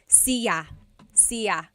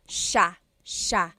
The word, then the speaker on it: siya: It looks like it should be pronounced siya, siya, but it's actually pronounced sha, sha.